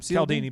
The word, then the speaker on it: Cialdini: Social proof is a phrase and a term that was originally created by the best-selling author Robert Cialdini. Was that how you pronounce his name? Cialdini, but you're good.